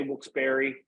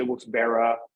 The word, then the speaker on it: Wilkes-Barre: And people do say Wilkes-Barre. Some people say Wilkes-Barre. Some people say Wilkes-Bar. Because that B-A-R-R-E could be pronounced any of those ways.